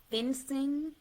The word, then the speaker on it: FinCEN: to put your information in this system called fencing. It's spelled FINCEN.